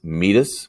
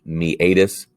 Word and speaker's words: meatus: your patellar tendon the meatus which you will pronounce meatus that is not correct it is pronounced the meatus is a tube-like canal the classic example that